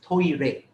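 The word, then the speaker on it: トイレ: in japanese for example the word toilet is pronounced as toy rei the japanese word for toilets when you write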